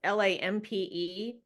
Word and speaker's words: Lampe: Lamp, I think is how you pronounce her last name. It's Lampe.